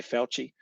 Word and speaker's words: Fauci: Yeah, but it's spelt like Faucci or something, eh? But I think it's pronounced like what you've got there, Fauci.